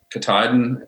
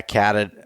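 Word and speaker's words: Katadyn: I had Kataydin, is that how you pronounce it? That brand? Yeah, Catadine. Yeah, I'm not sure. Something like that, yeah.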